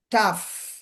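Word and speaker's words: tough: টাফ, টাফ, টি ও ইউ জি এইচ, ও ইউ জি এইচ উচ্চারণ আছে, উচ্চারণ হচ্ছে আফ এরকম, টি দিয়ে দিলে টাফ, মিলিয়ে পড়লে টাফ, কঠিন। রাফ, জি আর ও ইউ জি এইচ, রাফ, খসখসে।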